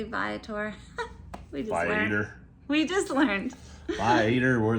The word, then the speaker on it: Viator: Okay, make sure you pronounce the company correctly, Viator.